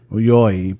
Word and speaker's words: Yayoi: How do you spell it? Uauoyayoi. Yayoi.